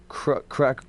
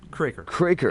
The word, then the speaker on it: Kroeker: Kroeker. Kroeker. Yeah. It looks like Kroeker, man. It really does. It's pronounced either way, so it doesn't matter.